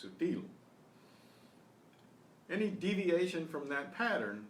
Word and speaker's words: sutil: Now how do I know that stress is on the final syllable? Sutil. Because it does not end in an N or an S or a vowel.